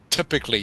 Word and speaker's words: typically: Typically, you can see it on your screen. So, it's pronounced typically. That Y, the Y, is pronounced like an I.